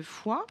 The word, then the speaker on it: fois: Attention ici à la lettre muette de fois. C'est un mot invariable, comme dans autrefois. Attention, je ne l'entends pas.